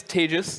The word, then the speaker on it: Tejas: here my name is tejus that's pronounced like advantageous um contagious whether or not it's